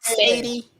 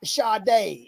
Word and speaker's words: Sade: You sure that's not Sadie? That's Sadie. It's actually a Sadie. Actually, it's Sade is how she said it. She said that's how you say my name.